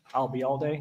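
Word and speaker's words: Ayalde: okay what was that if you uh remember the phrase I'll be here all day and drop it here I'll be all day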